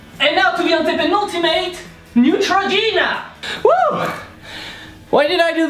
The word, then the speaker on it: Neutrogena: So it's Neutrogena. So Neutrogena, let's break it down to pronounce it. Ne. And in 10,000 videos that I made, I never managed to find another way than saying, pronounce it as I said it. Trop. Let's give up! So trop, like the troposphere, the lowest region of the atmosphere, but with a French R. Trop. G, like J.